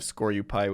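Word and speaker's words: Skorupi: I'm mentioning this encounter Man, I thought my pronunciation of Scoryupai was weird. But he just skips the U entirely, huh?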